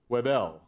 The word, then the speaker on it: Wedel: A point I make partly to clarify that Janine now pronounces her last name Wedel.